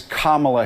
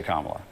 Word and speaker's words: Kamala: you're a mature grown-up it's kamla Harris can you just say can you say kamla or you cannot say Kamala Jim can you admit